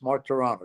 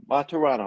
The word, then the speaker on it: Martorano: Martorano, is that correct? Yeah, 3 syllables. Martorano, yes. Martorano.